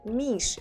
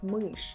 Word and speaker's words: мышь: Or if you say мышь instead of мышь, I would still understand.